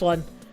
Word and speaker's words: Eau: You is pronounced O, the Eau de Toilette.